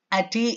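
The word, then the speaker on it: Ate: No ti ati it is pronounced and in some pronunciation it is also called ati. It is a Greek word.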